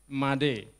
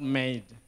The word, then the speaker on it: Made: The first one is Made, not Made. So for example, it is not past tense of make.